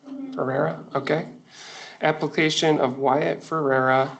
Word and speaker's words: Ferrera: Did I pronounce that right? Ferrera, okay.